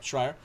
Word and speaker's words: Schrier: Schrier. Yeah. Schrier.